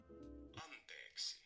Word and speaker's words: anteeksi: You gotta hold them two E's. There's two E's. That's important. Anteeksi.